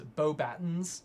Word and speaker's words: Beauxbatons: I think because in Goblet of Fire, Dumbledore specifically pronounces it as Beauxbatons. Oh. And so there's like literally a moment in the movies where like that's how it's said.